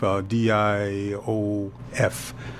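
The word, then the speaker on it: Diouf: About Sylvain, I believe, is spelled Sylvan, Diop, like Sheikh Anta Diop, Diof.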